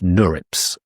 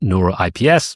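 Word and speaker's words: NeurIPS: Now, the biggest one is NURIPS, Neur. And I found out that's how you pronounce it. Um, not Nuroip, Nurips.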